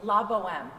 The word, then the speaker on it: La Bohème: How do you pronounce it? La Bohème.